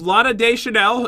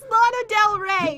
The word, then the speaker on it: Lana Del Rey: It's Lana Del Rey.